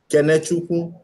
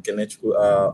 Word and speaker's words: Kenechukwu: Okay, Kenechukwu. That's how to pronounce the name, Kenechukwu.